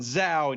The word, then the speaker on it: Zhou: But anyway, when do we use guys like Spock and Zhou? And yes, that is how you say it.